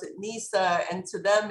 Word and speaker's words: Nisaa: deal with the egyptians and arabs i i pronounce it nisa and to them it's as foreign a name